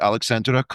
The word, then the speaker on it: Aleksandra: We'll touch go back to technology, but first let's dive into your background because um you know your your name is Alexandra. Did I pronounce that properly?